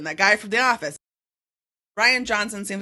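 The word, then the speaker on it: Rian Johnson: Ryan is not a weird name. It's spelled weird, so I wasn't ever Yeah, sure. it's still, but it's Ryan. It's Ryan. definitely Ryan Johnson. Yeah. Okay, Ryan Johnson.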